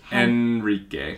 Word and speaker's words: Henrique: They say Henrique a little bit different. It's Enrique. Enrique. Enrique. Enrique. We don't, when the words start with H in Portuguese, we don't pronounce the H.